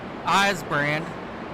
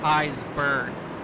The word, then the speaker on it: Eburn: We were saying eyes brand and he goes, "No, it's eyes burn."